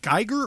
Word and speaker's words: Giger: and I'm going to mispronounce, is it Geiger or Giger? I believe it's Giger.